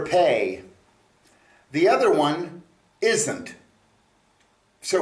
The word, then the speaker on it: פ: is uh a mouth okay uh the letter pay is spelled pay Olive um if you're using it